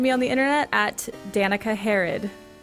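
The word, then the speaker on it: Danika Harro: o you could call you could also call her Danica harod if you wanted to say it wrong like me you want har any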